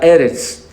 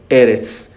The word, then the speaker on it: Eretz: Sino la palabra dada para esto es otra, que es Ares, o la Eretz, que es tierra, un lugar, un pueblo, o una nación, ¿sí?